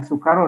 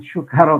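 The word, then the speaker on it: سكارى: Nah, ini bacanya sukaro dengan sin yang tipis ya, bukan dengan syukaro. Kalau syukaro artinya syukur, kalau sukaro mabok, begitu.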